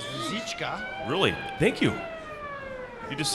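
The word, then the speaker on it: Růžička: The correct Czech pronunciation is Ruzicka.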